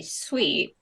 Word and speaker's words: Suite: that is correct and it's spelled s UI T sweet like not s we T that's also right Austin